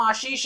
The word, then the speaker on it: Ashish: अगर मैं कह रहा हूं मेरा नाम आशीष है तो आपको आशीष ही प्रोनाउंस करना है।